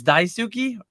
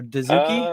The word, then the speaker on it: Daisuki: It sounded like he like Duki or it's Daisuki or Duki. Uh, it's like it's really like Daisy is like the Japanese.